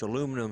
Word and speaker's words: aluminum: So, either way, aluminum And- or aluminium is the correct way to say it. I probably butchered the second way, but the first way is correct as well.